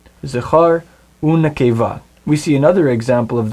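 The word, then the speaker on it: זָכָר וּנְקֵבָה: That means the vav before it will actually be pronounced as u. Zachar u nekeva.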